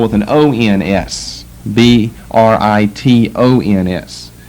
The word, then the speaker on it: Britons: Britons. But they're pronounced the same. Britain is the name of the country, and Britons the name of the people in the country.